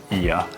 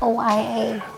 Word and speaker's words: Oia: I think it's called Ia, but it's spelled O A. I used to call it OA.